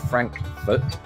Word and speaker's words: Frankfort: to think it is oh not franfurt Frankfort Frank Fort what am I doing it's not we're not in Europe there we go uh